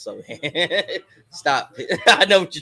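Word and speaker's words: Sochan: It's pronounced so hand.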